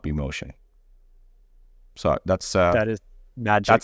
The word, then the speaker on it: Mohsen: So Mohsen will be Mohsen. It will not be Mohsen.